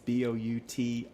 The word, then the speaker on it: Boutilier: I can spell her last name. It's Boutilier. So I'm giving you the French pronunciation. That has to be French.